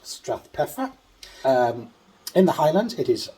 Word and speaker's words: Strathpeffer: Welcome to Strathpeffer.